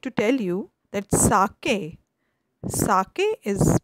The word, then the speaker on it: sake: here I would like to tell you that Saki Saki is pronounced like fr and K in Japanese it's